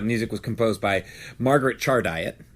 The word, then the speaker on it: Chardiet: By the way, the music was composed by Margaret Chardiet. I'm pretty sure that's exactly how you say it. Char diet. Chardiet. What else could that be? Phonetically, it makes sense.